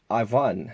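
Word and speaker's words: Iwan: in the warmer world you pronounce it as Ivan so it's count Ivan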